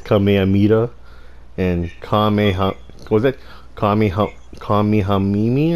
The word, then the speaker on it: Kamehameha: Pronounced as Kamehamama. Kamehamama. And there's other players that say it's Kamehameha.